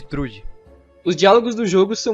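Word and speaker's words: Thrúd: Ela só tem um problema com as pronúncias de alguns nomes, tipo falarem Angrboda ao invés de Angerboda, ou Turd ao invés de Trude.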